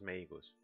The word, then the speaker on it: Meigaus: Pero ella es Meigaus en japonés, así que es la pronunciación de la A en inglés, de esto que vemos aquí, no es Magus, es Meigus.